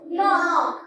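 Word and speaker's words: knee: knock করে করে ফেলা হয়েছে আচ্ছা এটার তাহলে উচ্চারণ কি হলো নক আচ্ছা তোমার একটু ব্যাটারি ডাউন লাগছে সকালে বলার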